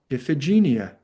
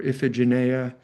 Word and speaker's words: Iphigenia: And the prophet says, "Oh, well, you've angered Artemis and you'll have to sacrifice your daughter Iphigenia or Iphigenia some people pronounce it.